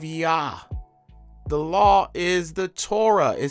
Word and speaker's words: Torah: When saying Torah, some pronounce it thorra, thorra, ta, or thaw.